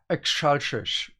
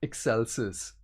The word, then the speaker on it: Excelsis: In my mind, she says Excelsis instead of Excelsis.